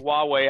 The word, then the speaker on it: Huawei: Huawei, I believe, is how it is pronounced.